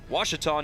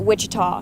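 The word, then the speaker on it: Ouachita: the second your score is Delta State three washon nothing you're watching Tiger baseball on the watch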